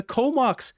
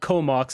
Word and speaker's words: Comox: Comox is two cities that merged together, and there's a First Nation band there called Comox. It's spelled with a K instead of C-O-M-O-X.